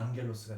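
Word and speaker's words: ἄγγελος: 이렇게 되어 있는 건데, 요 G가 두 개 정도 있으면 두 개가 이렇게 그 감마 뒤에 여기 뭐 감마와 감마, 그다음에 카파, 뭐 키, 뭐 크시 이런 것들이 오면 이게 발음이 발음이 난다는 것이죠. 그러니까 안겔로스가 되겠죠.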